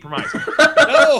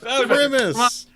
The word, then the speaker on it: premise: Here's my argument of why it's a unique promise. No premise. Argument. Premise. It's pronounced premise.